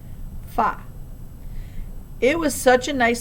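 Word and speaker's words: 发: That's because the word for the number 8, ba, rhymes with the word for prosperity, fa.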